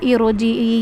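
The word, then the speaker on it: ارجعي: या अतुह नफ्सुल मुतम in next आयत है इजी यहां पे जो ये यहां पे इसको र को पुर करेंगे। ये हमने कायदे में भी पढ़ा था। इरोजीई यहां पे र पुर ही होती है।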